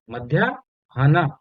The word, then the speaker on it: मध्याह्न: मध्या हा न, मध्या, मध्या हा न, इस तरह से पढ़ेंगे उसको। राइट। मध्या आधा हा पूरा ना, मध्याहन, ये पढ़ेंगे इसको, मध्याहन, मध्याहन या मध्याहन, ऐसे इसका प्रोनाउंसिएशन होगा।